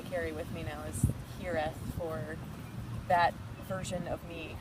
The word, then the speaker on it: hiraeth: There is a Welsh term, I don't know how to pronounce it, I think it's Hiraeth. It's Hiraeth.